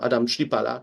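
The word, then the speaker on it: Adam Chlipala: assistance and specifically Co Adam Shala his name should pronounce like this he spent his he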